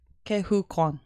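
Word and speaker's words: Ke Huy Quan: Do you know how to pronounce his name? I really don't want to butcher it. Kehu Kwan? Kehu Kwan.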